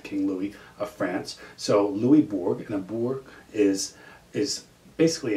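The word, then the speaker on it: Louisbourg: mean it's louis louis it's french so you don't pronounce the s the silent and the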